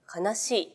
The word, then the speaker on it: 愛しい: おなじみのこの言葉愛しいを書くのですが悲しいと読みます小説家の川上